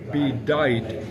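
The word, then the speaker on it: bedight: Bite. B E D I G H T. I'll hold that up there. Um, of course, it's rhyming with night.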